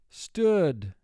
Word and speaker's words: stood: Again, the word is pronounced stood. If oo were representing its first sound, it would be pronounced stewed.